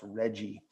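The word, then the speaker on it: RGGI: regional greenhouse gas initiative which we pronounce reggie.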